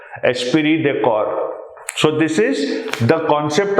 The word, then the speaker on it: esprit de corps: Get the pronunciation correct. Esprit de corps.